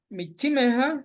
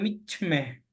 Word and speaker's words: michime: Michimeja es Michime. para que cumpla la regla, es michime, pero igual se puede pronunciar michme, Mm, michme, bien, gracias.